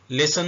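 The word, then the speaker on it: listen: मतलब होता है हलचल लिसन में टी साइलेंट है लिसन उर्दू में ऐसे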